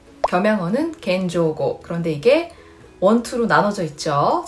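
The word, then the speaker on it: 謙譲語: 종경어는 손깨고, 겸용어는 겐조고. 그런데 이게 원투로 나눠져 있죠. 자, 그 밑에가 정중어, 대내고라고 읽고요.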